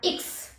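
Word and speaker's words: Ix: एक्स, एक्स का इक्स, इक्स इसको कहा जाता है, एक्स को इक्स।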